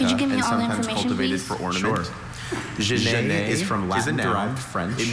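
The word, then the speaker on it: genet: Jane is from Latin French.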